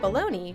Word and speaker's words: bologna: the jingle thank you bologna which is not spelled anything close to how it's pronounced because the world is a cruel place was a lunchtime staple